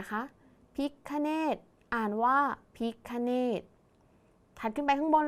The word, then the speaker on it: พิฆเนศ: มา อีก เลย ค่ะ คำ นี้ อ่าน ว่า พิฆเนศ คำ ว่า พิฆเนศ มี 3 พยางค์ ใช่ ไหม